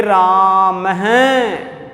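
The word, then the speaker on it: रामः: अगर इसी शब्द के अंत में अगर हम ये विसर्ग लगा दें तो फिर इसका उच्चारण हम थोड़ा विशेष तरीके से करेंगे, राम हैं। क्या बोलेंगे? राम हैं।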